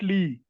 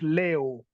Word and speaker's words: leo: Leo. Not Lee. It is A. The E is pronounced as A. So it's Leo.